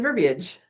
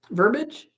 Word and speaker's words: verbiage: Thank you for pronouncing the I in verbiage. It Do people say it not that way? Verbage? If it's verbage, it's it's it's talking about verbs. If it's verbiage, it's talking about words.